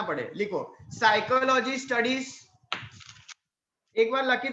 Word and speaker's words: psyche: तो Greek word आपको याद रखना है साइकी। अब साइकी का स्पेलिंग PSYCHE, वापस रिपीट कर रहा हूं, साइकी का स्पेलिंग PSYCHE बराबर है।